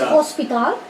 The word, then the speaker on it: hospital: So in English is hospital. In Spanish is the same writing, but you pronounce hospital. Hospital. Hospital. No, hospital. For example, in English hotel, in Spanish is hotel.